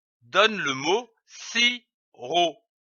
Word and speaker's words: sirop: L'association de ces deux syllabes donne le mot sirop. On ne prononce pas le P, comme ici du sirop.